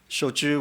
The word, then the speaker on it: shochu: doing business as american shochu company we became the first and only genuine shoujo distillery in north america right here in Maryland shochu which is pronounced like tradeshow Chewbacca is the other traditional